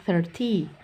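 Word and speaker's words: thirty: britishnya Nah jadi 30-nya 30 tidak boleh dibanyakkan 30ty karena itu akan mirip dengan 13 30 thiren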